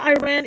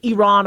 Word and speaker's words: Iran: a second isn't the Iran issue Iran issue is supposed to be over by now and and yeah it's pronounced Iran I apologize if I ever say Iran uh it is pronounced Iran um so will will